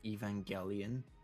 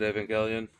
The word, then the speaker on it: Evangelion: how do you I pronounce it evangelian because evangelical but I hear a lot of people pronounce it Evangelion. I've always said Evangelion.